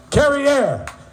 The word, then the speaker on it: Carrier: Dave Swamp, how do you say it? Carrier. Carrier, which rhymes with derriere.